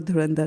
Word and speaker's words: Dhurandhar: So now the rules of Sanskrit when you combine dhur and dhar it becomes dhand magically it becomes durand which is much more uh you know musical to hear and musical to pronounce there right.